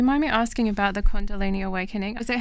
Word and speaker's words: kundalini: Do you mind me asking about the condalini awakening?